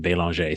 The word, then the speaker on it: Belanger: but yeah when I when I go to France or um or Canada I actually pronounce my name Belanger so who knows maybe